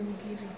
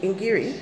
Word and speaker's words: ngiri: In Swahili it's called Ngiri. What's it called? Ngiri. In Swahili. Ingiri? Ngiri. Igiri? Ngiri. Ingiri. Not E. Ngiri.